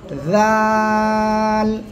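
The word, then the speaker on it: ذال: আগা সামনের উপরে দুই দাঁতের আগার লাগান লাগে উচ্চারণ করতে হবে জাল জাল তিন আলিফ টানা হবে কয় আলিফ তিন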